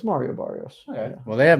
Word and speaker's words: Mario Barrios: Let's learn about Marcos Barrios. Did I put his name wrong? It's is it Mario? I think it's okay. Mario. Is he both? No, it's Mario Barrios.